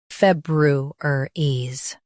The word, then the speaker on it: Februaries: Februaries, Februaries. Emphasize FEB and keep rus light.